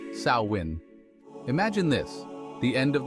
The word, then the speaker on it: Samhain: ancient Kelts and their Festival of samhan pronounced sawin imagine this the end